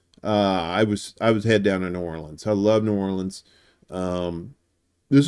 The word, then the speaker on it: New Orleans: in the city of New Orleans. So, and please don't say New Orleans. Don't Yankeefy yourself. It's New Orleans. New Orleans. Like Orlins. Say it like that, and the locals